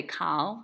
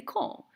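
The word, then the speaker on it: כל: a kamatz katan, and kamatz katan is pronounced o, not a, like the word kol. We see that all the time, and we just sort of take it for granted that that's how it's pronounced. We know when none of you say kal, we say kol, but it's the same thing.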